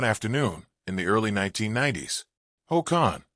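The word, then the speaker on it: Hồ Khanh: Ho Khan, say it like Ho Khan was a farmer and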